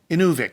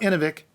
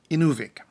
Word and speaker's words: Inuvik: of man in Inuvialuit on Inuvik not in avec Inuvik the newest territory in